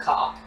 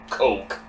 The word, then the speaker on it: Koch: one brother left and I'm pronouncing a cop it's coke although perhaps coke really isn't that far off ah I consider it